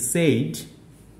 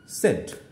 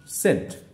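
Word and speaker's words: said: একইভাবে দেখো এস এ আইডি আমরা বলে থাকি সেইড, কিন্তু আসলে উচ্চারণ হবে হচ্ছে সেড। এস এ আইডি উচ্চারণ হবে সেড।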